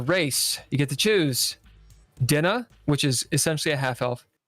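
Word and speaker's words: Daoine: So Dinna. Dinna? So you can call it Doween if you want. D-A-O. D-A-O-I-N-E. I-N-E. It's pronounced Dinna. Dinna. But people will pronounce it however they want.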